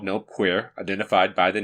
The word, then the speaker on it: Nope Queer: His name identifies him as A-E-I-O-U, but it's pronounced A-U, just to be clear. Next, we have Craig Jensen popping out. He's called Nope Queer, identified by the name tag N-O-P-Q-R.